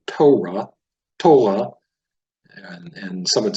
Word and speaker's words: Torah: And the Ashkenazic Jews tend to put the pronunciation on the first syllable. They would say Torah, and some would say Toira, depending on what part of Jewry you come from.